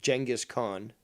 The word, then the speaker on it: Genghis Khan: This man is fucking the Genghis Khan, and that is the proper pronunciation, of the modern age, because he will impregnate half the world, and that's a simple fact.